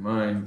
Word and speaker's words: mein: These all rhyme with ein. Mein, dein, sein rhymes with ein.